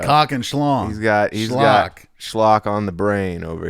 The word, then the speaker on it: schlock: Schlock and fluff. Yeah, it does sort of rhyme with cock, David.